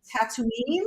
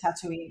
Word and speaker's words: Tatooine: If there's lightning involved, um, Robert Speer said, "Hello from Tatooine." Is that how you say it? Oh, that's Tatooine, yeah.